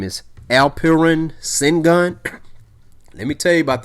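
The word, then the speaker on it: Alperen Şengün: Let me make sure I'm pronouncing his name right. His name is Alperen Sengun.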